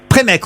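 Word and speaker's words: Prémesques: Premesque, on ne prononce pas le S, donc.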